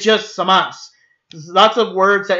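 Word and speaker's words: Zamasu: It's spelled Samasu, but you don't pronounce the U.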